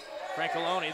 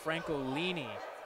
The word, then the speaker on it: Francolini: I want to get that pronunciation right. It's Adam Francolini.